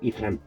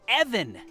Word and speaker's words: Evan: You need to be more careful, Ethan. Evan! It's pronounced Evan!